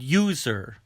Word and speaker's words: user: the at the word user user actually has a yeah a y sound in the beginning user user begins with the consonant sound y let's take a look